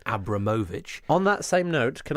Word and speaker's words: Abramovich: you know that Roman Abramovich is actually pronounced Roman Abramovich on that same note